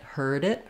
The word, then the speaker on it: heard: like I heard it the D is not going to release it's going to just release into the eye of it heard it heard it just like we would do in um heading or bedding with the D in the middle and if I say